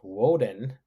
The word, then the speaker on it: Odin: named after Mercury or Odin pronounced woden so Wednesday would Walden